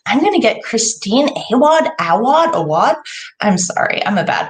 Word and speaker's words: Awad: So it's pronounced Awad, not Awad.